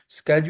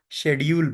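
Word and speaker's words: schedule: ग्रा grammar same है अब देखें यह शेजुल है स्पेलिंग इसके देख लें एस ई एच ई डी यू पली स्केज अमेरिकन इसी सेम स्पेलिंग के साथ इस वर्ड को स्केज बोलते हैं और ब्रिटिश इसी सेम स्पेलिंग के साथ इसको शेड्यूल बोलते हैं ठीक है तो दैट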